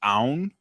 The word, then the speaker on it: Aoun: it easy for like technically it's pronounced own but yeah just make